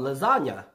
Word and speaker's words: lasagna: Aside from lasagna, can you think of another word that is spelled with G-N, but pronounced as nye?